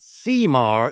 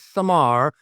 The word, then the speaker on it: Cemar: It's not Seamar, it is Samar.